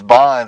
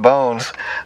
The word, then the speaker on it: Bonz: the project um I thought the name was Bond and she's like no no no it's pronounced bones um so so that's that's totally I think